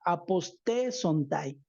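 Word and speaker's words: ἀποστήσονται: que se declina esta palabra apostatarán, eh, se pronuncia apostesontai.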